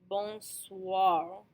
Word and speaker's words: bonsoir: You hear the wa sound at the ends of both of these words. Benoit, bonsoir.